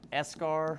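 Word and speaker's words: eschar: to memorize it but it's called escar a lot of times it's spelled like this don't I promise that's how it's spelled escar means that this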